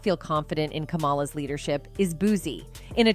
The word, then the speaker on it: Kamala: I think it's pronounced Kamala Harris. Well, I call her Camilla.